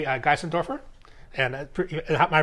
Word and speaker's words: Geissendoerfer: I'm here with Uli Geissendoerfer. And am I pronouncing your last name correctly?